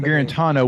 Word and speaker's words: Guarantano: it here so in 2003 no it was guarantino guarantano which one was first which one was last